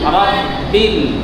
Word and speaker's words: ربِّ: দুইয়া করলাম الحمد لله رب العالمين ربِّل ربِّل রব্বিল আমার মুখ কি আমার ঠোঁট কি গোল হয়ে যাচ্ছে রা উচ্চারণ করার সময় আমার ঠোঁট গোল হচ্ছে হচ্ছে